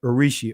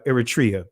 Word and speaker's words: Eritrea: Tunisia Libya Egypt and urishi or aridia excuse me excuse me if I'm butchering this name uh uh Eritrea that's how you pronounce it Eritrea all right forgive me